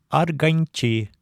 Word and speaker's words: арганчи: Примеры: арганчи, гармонист. Здесь н перед ч становится полатальном.